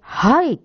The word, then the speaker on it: height: はい、次、とっても気をつけて、これで height と読みます。E なのにね。height は、高いの high。